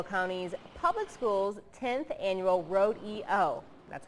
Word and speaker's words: Road-E-O: Students were at Ladd-Peebles Stadium this morning to take part in Mobile County's Public Schools 10th Annual Road EO.